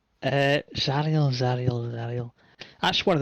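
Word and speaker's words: Zariel: so the the letters and the infernal runes spell it a name uh zarel can we go wake can we go wake up again and tell that uh zarel zarel zarel that's one of the sub rers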